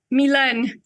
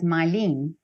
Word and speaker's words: Milène: but first I want to know do I pronounce your name right Milan Milan yeah because yeah I write on your